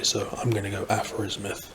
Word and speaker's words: Aphorismyth: pronouncing aphro's myth correctly it's presumably a blending of aphorism and myth so it could be aphro is a myth but that sounds a little too distinctly divided whereas i think shifting that stress a little bit to aphorism sounds more natural as to how a real word would be pronounced and i think it's